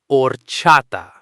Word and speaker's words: horchata: It looks like it might have a hard H sound, but the beginning is completely silent. Horchata. Horchata. Let's smash out the sounds instantly using three simple building blocks. Or, cha, ta.